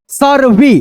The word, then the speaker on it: सर्वे: अब यहाँ पे देखो री की मात्रा मैंने शुरुआत में पढ़ाया था, याद रखो, गृहस्थी, पति से, पति से, एक सर्वे।